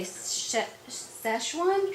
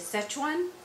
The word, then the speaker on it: Sichuan: Now, most Americans say Sichuan chicken, but I do believe it is Sichuan.